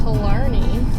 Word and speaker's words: Killarney: with today's all right we are headed to killarney lake that's how you say it um